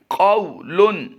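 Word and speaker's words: قَوْلٌ: अब दूसरा लफ्ज़ जो पढ़ रहे हैं उसमें पहले में वाउलिन का कायदा होता है, आगे तनवीन है, मुनव्वन होगा, और वाउलिन को हम लंबा नहीं करेंगे। इसके हिज्जे कैसे करेंगे? क़ाफ़ वाव ज़बर क़ौ, लाम दो पेश लुन, क़ौलुन। इस वक्त जो आप अपनी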